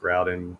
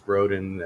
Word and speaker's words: Groudon: mansion groden groud and I believe it's pronounced Groudon even though somebody said it was groden and they knew the